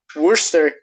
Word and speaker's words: Worcester: Worcester, Massachusetts. That's the way it's pronounced and the way it's spelled.